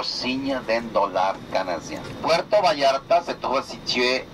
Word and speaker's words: Vallarta: Je prononce comme ça le mot Vallarta, parce que le double L en espagnol, il faut le prononcer comme un Y du français. Et c'est sûr que vous avez le son en français. Vallarta, pas Vallarta.